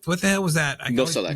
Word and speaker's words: Nosalek: Okay, keeping on kind of that, MLS Penn, who Nolcevic, what the hell was that? I Nosalek.